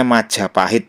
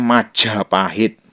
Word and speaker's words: Majapahit: ya tidak salah karena ada prasasti yang menggunakan ja biasa atau ja alpaprana misalnya nya prasasti selam mandi satu nah ini bacanya Majapahit biasa ya kalau yang menggunakan jamaha Prana bacanya Majapahit Jadi kalau ada yang